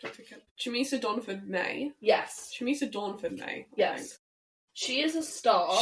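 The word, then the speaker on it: Chumisa Dornford-May: Chamisa Dawnford-May.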